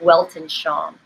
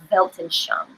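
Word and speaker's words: Weltanschauung: of linguistics it's called it's a German word and it starts with the W but it's pronounced with the v it's called built and shown but it looks like Welton Sean Belton Chung and it is your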